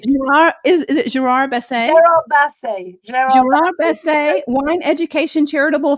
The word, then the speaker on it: Gerard Basset: This little American woman's having some trouble with the pronunciation over here. Great. Gerard, is it Gerard Basset? Gerard Basset.